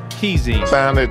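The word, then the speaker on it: Kheyzine: Keezine. Sound it out phonetically.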